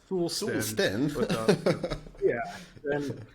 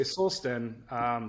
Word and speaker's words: Solsten: route, you say like Solsten. Then you're kind of veering off, I guess, with what we were intending. But when you say Solsten, there's that word soul in it, sten, stone.